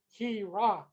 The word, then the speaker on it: Heerak: 50% he, 50% rock. He rock.